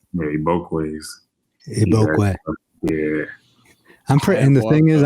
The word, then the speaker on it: Igbokwe: Igbokwe.